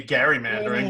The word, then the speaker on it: gerrymandering: you were supposed to pronounce it they did pronounce his name in those days gary so technically it should be gary mandering but i've never heard anybody say that right